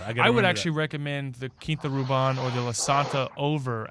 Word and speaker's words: Quinta Ruban: I also learned that it's Quinta Ruban, not Quinta Ruben.